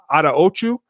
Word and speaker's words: Attaochu: today the Chiefs signed Jeremiah Otto Chu and I believe that's how he pronounces it I went and checked